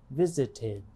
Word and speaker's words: visited: Because it ends in T, we generally pronounce the ED past tense ending as id, visited.